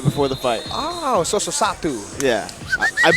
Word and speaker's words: Sosoatu: Oh, Sosoatu. Yeah. I butchered it multiple times in his last fight, so apologies for that. But tonight, Sosoatu.